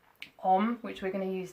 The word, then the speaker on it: Om: on which we're going to use today then that's